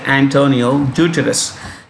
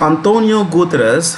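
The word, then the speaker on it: António Guterres: guterres has recently been that's a portuguese name so you pronounce this as antonio we normally say antonio deuterous it's antonio gutras has recently been approved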